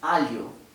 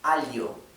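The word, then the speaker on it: alho: lluvia y llueve bueno ese sonido es el sonido de la lh del portugués sí por ejemplo la palabra para abajo el ajo que se usa para condimentar bien portugueses al yo se escribe con doble comprado con el h y es algo al yo casi como si fuera una ley pero no exactamente bien al yo hay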